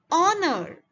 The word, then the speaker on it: honor: word the second one honor again h is silent the third word here